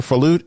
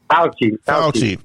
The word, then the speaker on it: Fauci: Falucci? Is it Falucci? Am I pronouncing it right? Fauci.